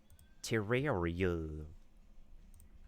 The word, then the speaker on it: Terraria: I mean, I doubt it's going to be like Terraria. There's people who pronounce it as terraria because when you say terra like terraform you say terror not ter do her eyes shift